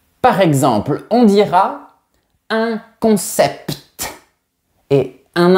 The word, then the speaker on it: concept: Mais pour certains mots techniques, j'ai bien réfléchi et j'ai trouvé pertinent de garder la prononciation du t. Par exemple, on dira un concept et un impact.